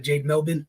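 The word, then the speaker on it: Jade Melbourne: mispronouncing her name so I apologize to Jade Jade melbin is the correct way to pronounce it thought she was solid tonight we've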